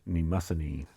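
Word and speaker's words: Nemosine: And now we come to Nemassani. That's how that's pronounced, Nemassani.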